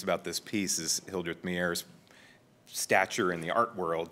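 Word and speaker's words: Maier: Mayer. Mayer. As in breathing my air, so to speak.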